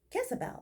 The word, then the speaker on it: Gezebel: Jezebel, it's spelled with a G instead of a J, Jezebel explained and giggled.